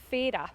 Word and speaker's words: Fara: We should mention that the locals correctly call it Fay-ra. Yes. Um, We found that out far too late. We thought it was Fara, but it's Fay-ra.